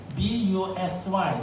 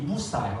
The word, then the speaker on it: busy: And think about it, a simple word like busy, B-U-S-Y. Why do you pronounce B-U-S-Y as busy? It should be busai, right?